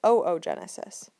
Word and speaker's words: oogenesis: side we call it oogenesis and i know that's strange but we do pronounce both of the o's there and you can see